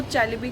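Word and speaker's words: Çelebi: बताया गया था कि टर्किश कंपनी में यह जो सी के नीचे आप एक डॉट जैसा देख सकते हो, उसे चैलबी प्रोनाउंस करते हैं।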